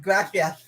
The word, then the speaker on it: gracias: You're supposed to roll your R's, bro. And she was like, gracias.